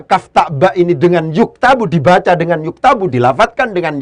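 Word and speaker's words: يُكْتَبُ: Ketika cara bacanya itu adalah dengan yaktubu, ya, itu beda dengan ketika cara bacanya dibaca yuktabu.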